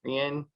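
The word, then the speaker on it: Rein: Is it Rain or Rien? Rien. R-E-I-N.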